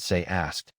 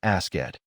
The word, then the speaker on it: asked: Add the T sound and say asked, not ask it.